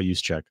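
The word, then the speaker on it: Juszczyk: fullback creu how' he say his name Kyle yuse cheek yeah yuse cheek is in there forers just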